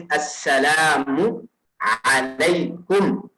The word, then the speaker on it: assalamu alaikum: The proper way is assalamu alaikum. Assalamu alaikum. So that's the proper pronunciation of that.